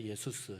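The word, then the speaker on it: Ἰησοῦς: 뜻이에요 예수라는 이름 자체가 참고로이 예수 원래 그 나라 본토 발음으로는 예수스입니다 예수스 예수 그 영어로 옮기면 이게 발음이 좀 달라지죠 지저스 이래라는데 우리말로 옮기면 거의 본토발은 그대로입니다 예수 예수수 예수 그러니까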